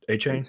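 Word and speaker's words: Achane: how do you pronounce I thought it was a Kane achin a change how you pronounce it a change okay I have my head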